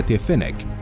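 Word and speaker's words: Fennek: فينيك، المركبة الألمانية الخفيفة، ويعني اسم هذه المدرعة أحد أنواع الثعالب، وتلفظ باللغة الألمانية فينيك، وهي مدرعة استطلاع خفيفة بأربع عجلات تنتجها الشركة الألمانية بالشراكة مع شركة أنظمة مركبات الدفاع الهولندية كراوس مافاي فيخمان.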